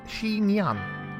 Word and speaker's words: chignon: i how do you say it how to pronounce i hope you can hear oh a shi shinyan here okay cool it is a popular type